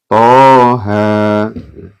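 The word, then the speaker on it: طه: Ya, ini dibaca 2 ya, atau di ayun ya. Toha.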